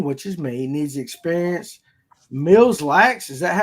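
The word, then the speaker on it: Mille Lacs: Ken Puit wants to know, Danny, which is me, needs experience Mills Lax, is that how you pronounce that? Milax.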